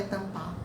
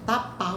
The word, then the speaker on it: tapar: a pronúncia está correta não é tampar é tapar o saco que é